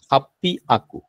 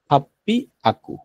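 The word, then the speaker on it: はっぴゃく: আছে এইযে আমি লিখে দিচ্ছি হাপি আকু হাপ্পি হাপ্পি আকু হাপ্পিয়া আকু ঠিক আছে হাপ্পি আকু মনে থাকে হ্যা তাহলে আমাদের এখানে স্পেশাল ওয়ার্ড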